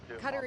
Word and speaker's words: Qatar: So Phil, the thing is Qatar is actually the correct pronunciation. Look it up. I'm not lying. It's just that we as Americans refuse to accept it. So I say both.